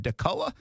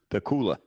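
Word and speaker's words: Dacula: that town in georgia is it dakota or dakula the cooler the cooler it's funny i just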